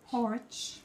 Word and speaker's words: Horwich: We were going to go out and about in, you have to pronounce the name because I'm going to smash it. In Horwich. Horwich.